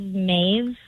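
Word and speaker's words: Mauve: So, I have a couple, but I really love Mave. It's spelled M A U V E.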